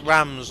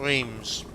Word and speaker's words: Reims: is being drunk Oh the ponies pronounced Rams not Reims oh well not to